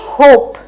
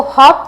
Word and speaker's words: होप: तो नेक्स्ट क्या है, ये होप, होप, इसको हॉप मत पढ़ना, ये होप है।